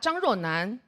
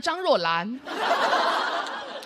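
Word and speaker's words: 张若南: Eu pronunciei Zhang Ruonan como Zhang Ruolan. Algumas pessoas nem perceberam onde estava o erro. Confundi n com l.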